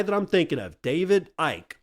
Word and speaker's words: Icke: David Ike. Also, people pronounce it David Icky.